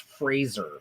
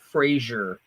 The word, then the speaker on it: Fraser: pissed also Brendan Fraser his name is pronounced Fraser it's not Frasier and he actually gets